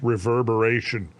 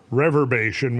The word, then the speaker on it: reverberation: I pronounce mispronounced reverberation in one of our previous uh I called it rever reverbation when it should have been reverberation.